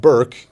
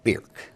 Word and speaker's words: Birk: back there now uh your name is bir to those of us in dubo County yeah but Burke to those outside of Duo County the U uh yeah our last name is pronounced bir b i r k that's the German pronunciation and that's what we've